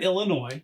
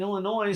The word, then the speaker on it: Illinois: Yeah, and then I come from Illinois, and I'm like, well, we do say the S is silent in Illinois, so maybe there's something about Missouri.